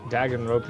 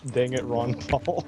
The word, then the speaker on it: Danganronpa: Ceiling D called it dang it Ron Paul. I've heard that mostly pronounced as Danganronpa!